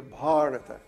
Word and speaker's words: Bharata: y así dice, Not India, Bharata. dice Bharata. No, Bharata. Bharata. Yeah. Yeah, it's a Long long A.